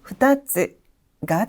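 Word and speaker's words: 二つ: 이번에는 훈독 발음인데요. 후따 그리고 후따츠가 됩니다.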